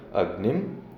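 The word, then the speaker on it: अग्निम्: उसने कहा कि इसका उच्चारण ऐसे होगा, अग्निम, इस प्रकार से होगा।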